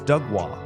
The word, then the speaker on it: Doug Wah: It's Doug Wah. It's one word. It's not like there's no break.